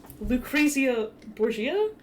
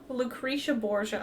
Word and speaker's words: Lucrezia Borgia: And he goes down the zip line, and he gets to, there's this big painting of Lucrezia Borgia? Lucretia Borgia, I think, is how they say it in the show.